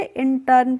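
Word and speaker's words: intern: होता है next word हमारा आई एन टी ई आर एन तो आई एन को पढ़ेंगे इन और टीई आर एन को पढ़ेंगे टर्न तो इसको क्या पढ़ेंगे इंटर्न पढ़ेंगे और इंटर्न का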